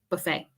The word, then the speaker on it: buffet: I think in other languages, you do pronounce the T, but in English, buffet.